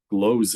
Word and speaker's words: Glose: And my great uncle, my grandfather was deceased, but his brother was a Jesuit, Father Joseph Glose, it was pronounced, the German pronunciation.